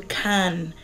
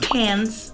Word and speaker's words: Cannes: girl gets to go to come France show it on a map it's not pronounced pants my dad checked me this morning it was like you're going to come okay it's a classic and